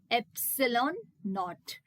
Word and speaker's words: epsilon naught: So this is how it has to be pronounced, epsilon naught.